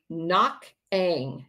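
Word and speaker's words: Koch'ang: Even during the height of the war, in February 1951, there was a Knock Ang, it's spelled K-O-C-H apostrophe A-N-G incident, again involving suspicion of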